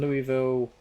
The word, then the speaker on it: Louisville: a freight line from Louisville to St. Louis. And also a passenger line that way as well. We can do that. It's Louis after the French king, so you pronounce it the French way.